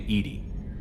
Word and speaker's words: EDI: Why are you named Edie? EDI is the phonetic pronunciation of EDI.